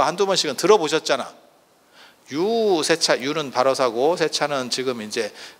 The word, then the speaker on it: 유세차: 유세차 원래는 유세차라고 읽는 게 아니고 유세차 이렇게 읽거든. 유를 굉장히 길게 빼거든. 유를 굉장히 길게 빼. 세차 이렇게 읽거든요.